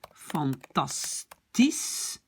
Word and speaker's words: fantastisch: En néerlandais, ça va devenir iets fantastisch, parce que le SCH se prononce déjà comme S.